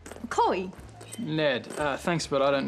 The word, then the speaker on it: Chloe: Chloe, remember? Rhymes with snowy, like this country I was telling you about.